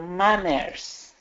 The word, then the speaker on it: manners: Pronunciation for manners. Manners. Manners. What? Man, just like man. Man, manners. Okay. I have problems with the ending. The Z. Manners. Manners. Even a little bit more. Not much.